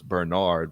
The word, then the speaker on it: Bernhard: I know it's Bernard, but it's spelled Burn Hard.